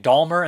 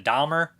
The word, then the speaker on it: Dahmer: names or names and i was saying dalmer instead of dahmer i don't know why but somebody corrected me i'm saying dulmer with an l in there for some reason i know it's dahmer my bad sorry guys